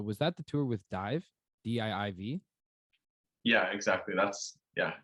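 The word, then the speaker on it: DIIV: name correctly but was that the tour with dive d-i-i-v yeah exactly that's yeah it's dive yeah so that was an insane tour and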